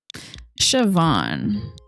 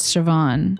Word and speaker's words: Siobhan: It should be Van is I think it's just Siobhan, not Bon. Good evening, Eively. Shio, Bonnie. Yeah, maybe. But the the it's actually pronounced like a V.